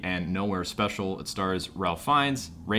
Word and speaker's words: Ralph Fiennes: It stars Ralph Fiennes, even though it's spelled fucking Ralph.